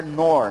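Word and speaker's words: Knorr: nor km é só que a pronúncia É menor né não cai é mudo Então nesse menor escreveu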